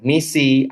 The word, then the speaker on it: MECE: Kalau misalnya banyak orang menyebut ini dengan misi atau mece, kayak gitu ya. Dalam salah satu interviewnya, Barbara Minto sebagai inventor dari prinsip berpikir logis dalam presentasi dan laporan di McKinsey, beliau menyebut cara pronounce-nya adalah MIS.